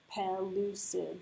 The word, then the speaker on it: pellucid: my whole first line p pellucid three syllables um pelucid is that